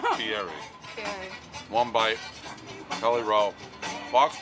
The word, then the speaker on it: Fieri: I watched the one with Guy Ferrari earlier. Just for reference. That's not how you pronounce his name. Is just for reference. Fieri.